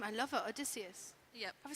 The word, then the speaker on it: Odysseus: That name, I love it, Odysseus.